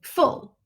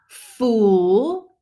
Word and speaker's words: full: you but it's not it's a short u sound full full not fool it's full like pull so we practice that